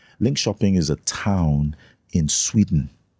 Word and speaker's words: Linköping: went to many years ago I went to Linköping. Linköping is a town in Sweden. Linköping. It's spelled l i n k o p i n g. But it's pronounced Linköping.